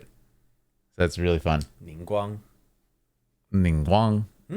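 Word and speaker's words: Ningguang: rays of light so that's really fun mingang ning Guang ning Guang that's the tough the second part is still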